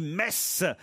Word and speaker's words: Metz: on ne dit pas mais ce sont 10 messe de même qu' on ne dit pas freyming